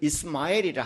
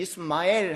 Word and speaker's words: 이스마엘: 그러니까 이스마엘 할 때 엘이 하나님이 지금 들어가 있는 단어예요. 그 이름이. 그다음에 이 스마엘에서 스마라는 말은 정확히 발음을 하면 이 쉐마엘이라는 단어입니다.